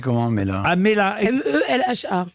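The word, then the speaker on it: Melha: Ah, Mela. M-E-L-H-A. C'est comme une pêche melba sans le B, quoi. Voilà, et avec un H aspiré.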